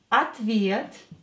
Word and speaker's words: Ответ: Ответ. Ответ. Ответ. О will be pronounced as а, because it's not stressed. Here е is stressed.